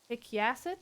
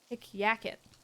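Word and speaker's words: hic jacet: I don't care, but at the start of a word before a vowel is a consonant, so it's pronounced like a Y.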